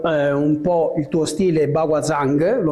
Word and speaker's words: Baguazhang: Allora, io inizierei spiegando un po' il tuo stile Baguazhang, lo pronuncio bene? Paguajan.